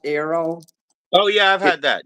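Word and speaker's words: Aero: the arrow candy bar it's pronounced Arrow oh yeah I've had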